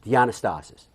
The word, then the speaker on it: Dianastasis: My last name is pronounced Dianastasis.